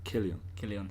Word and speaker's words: Cillian: Killian.